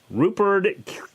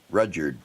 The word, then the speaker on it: Rudyard: just saying that now Rupert Kipling they say that correct I think it's rude you're Rudyard Rudyard I think well but we